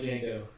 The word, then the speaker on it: Django: Just like Django, the D is silent.